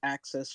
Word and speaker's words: VCCESS: hello elizabeth um yep it's uh pronounced access just for short but really appreciate everybody